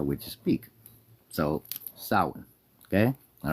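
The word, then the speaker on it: Samhain: It's pronounced sin, not Sam Hayne.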